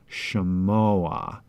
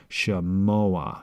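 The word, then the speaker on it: שְׁמֹעַ: We get a furtive patach, shemoa, where the patach is written under but pronounced before the ayin. So we have two vowel sounds here in this one syllable, shemoa.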